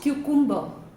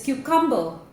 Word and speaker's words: cucumber: This is not cucumber. This is not cucumber. The right pronunciation is cucumber. Cucumber. Cumber as in number, right?